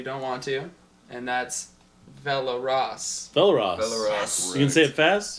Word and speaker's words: Velaraas: You can say it like that if Can you you think roll you're your cool. R's? Velaraas. There you go. Velaraas. That just makes it sound like a Spanish.